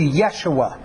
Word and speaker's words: Yeshua: Y sound so it'd be much closer to Yeshua the same with other hard J sounds especially